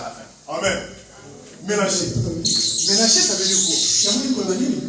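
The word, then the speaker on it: Menashe: Écoutez, en hébreu, Manassé s'écrit Ménaché. Ménaché.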